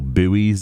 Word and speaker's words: buoys: others these like coaching boys or buoys if you're American we call them boys over here yeah pronunciation's interesting